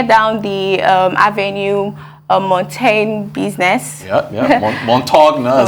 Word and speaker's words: Montaigne: Montagne, as it's pronounced, business.